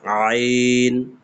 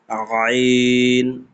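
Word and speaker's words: عين: এইযে আইন উচ্চারণটা একদম গলার কন্ঠনালী থেকে চাপ দিয়ে বের হবে। আইন আইন আর কফটাও ঠিক একই জায়গা থেকে।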